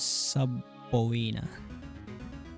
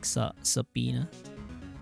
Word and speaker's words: subpoena: So I pronounce it as subina. Apparently it's like sapina like with silent b.